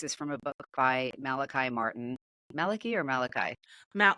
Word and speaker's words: Malachi: and the case is from a book by Malachi Martin Maliki or Malachi ma well uh he pronounced it Malaki Malaki okay yep father Maliki Martin so I